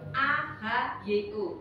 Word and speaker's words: Ahyo: Ahyo, A-H-Y-O, bacanya Ahyo.